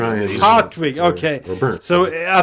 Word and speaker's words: Hartwig: or in Scandinavia, Hans Hartwig. I think so. Those are my three. Yeah, Hartwig. It sounds kind of strange when you say it in English. It's no R, right? It's hot. Hartwig.